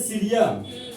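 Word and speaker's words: cerium: देखिए आपको जो पहले एलिमेंट है उसका 58 है, इसको बोलते हैं सीरियम। सी को क्या बोलते हैं? सीरियम। इसका स्पेलिंग ये है और इसका सिंबल है आपका सी।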